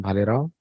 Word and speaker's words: Bhalerao: Parag Bhalerao. That's how pronounce his name, Bhalerao.